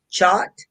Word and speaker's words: Chaat: H as in Howard, double A, T pronounced Chot, am I correct?